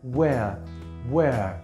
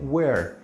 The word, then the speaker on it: where: Where, que en inglés británico la R mucho no se pronuncia, se pronuncia where, ¿sí? Pero en inglés americano la R suena muy bien, where.